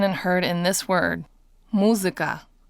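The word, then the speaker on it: музыка: And it can be seen and heard in this word, muzika. So if you listen closely, you probably heard something like an I. Listen again. Muzika.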